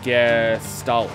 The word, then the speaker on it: Gestalt: It's pronounced Gestalt, by the way.